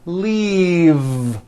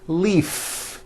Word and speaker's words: leave: has an unvoiced F the word is leave with a voiced V keep the voicing going throughout the whole word and voice the V leave like that if you stop the voicing at the end of the vowel e then you would be saying leaf with an unvoiced f and the word we're trying to say is leave with that voiced V okay now let's look